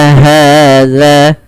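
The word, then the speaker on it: هذا: kecil Za begitu pula hati-hati dalam melafalkan Za atau melafalkan huruf Zal jangan Terganti dengan bunyi suara huruf z ya teman-teman tidak boleh kita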